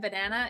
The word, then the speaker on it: banana: Sh says, "In the way the first and third I in banana is pronounced, it's called a schwah."